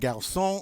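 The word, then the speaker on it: garçon: the next one and remember that c with the sadia tells us that that hard c is now going to be pronounced like a soft c all right and gaussian of course means boy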